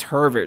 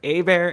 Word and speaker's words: Herbert: I love that you say it's not Bobby Hebert anymore. It's Justin Herbert. It's Herbert.